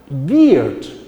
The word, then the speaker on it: beard: So the pronunciation of this is beard. Now bird are different from beard.